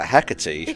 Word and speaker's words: Hecate: of uh mythology uh hecatee I believe there's different pronunciation but it is the goddess of witches when my single-handedly took